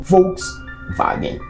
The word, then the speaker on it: Volkswagen: do povo ou basicamente Como se pronuncia em alemão Volks vagen alguns projetos bem interessantes